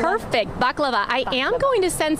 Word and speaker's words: baklava: Something else people sometimes say is baklava, but it's not baklava. It's baklava. Baklava. Did I say that right? I think. Did we correct? Perfect. Baklava.